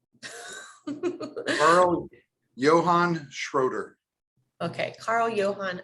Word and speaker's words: Schroeder: And I should have asked before we got on how to pronounce his last name. Carl Johan Schroeder. Okay, Carl Johan Schroeder.